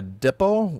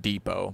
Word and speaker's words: depot: it okay now we need to make a dippo which is something to make plates on that's pretty easy actually okay we just make the depo i know it's pronounced depot but whatever casing and now we can make